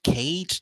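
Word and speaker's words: Kage: Cage. This man's first name is Cage, like a steel cage match. It's just spelled with a K, not a C.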